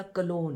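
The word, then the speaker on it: cologne: और last but not least ये मेरा कॉलोन है। कॉलोन की स्पेलिंग बता दूं। उससे पहले आप कंफ्यूज हो जाए। सी ओ एल ओ जी एन ई। जी इसमें साइलेंट होता है।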